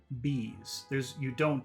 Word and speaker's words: bees: And number two, bees. You eat the air, you don't push it out.